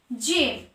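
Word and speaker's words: gem: জি এর পরে ই আছে, জি এর পরে ই আছে, জি প্লাস ই, তাই এখানে জয়ের উচ্চারণ হলো এজ, জেম।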